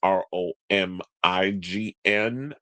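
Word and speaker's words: Romijn: Y'all spell Romaine's last name wrong. It's Romign, I think.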